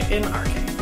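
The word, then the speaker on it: ἐν ἀρχῇ: Okay, so say en-arche, or if I was going to spell it phonetically, it would probably look like something like this. En, or that looks like en. This is in. En-arche. Let's say A-R-K-A-Y. Arche. Like that. En-arche. That's the phonetic spelling.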